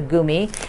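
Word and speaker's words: Gummi: you who get confused why i say it goomy because that's german and i learned to eat these in germany when i lived in germany and it's a german candy so you say it like them which is a goomy it's not like chewing gum at all so thank you elaine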